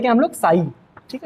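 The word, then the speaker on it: psi: Okay, इसको पढ़ते हैं क्या हम लोग, साई, ठीक है, इसको हम लोग पढ़ते क्या है, साई, ठीक है। पी एस आई, P silent होता है तो साई इस करके इसको हम पढ़ते हैं, ठीक है।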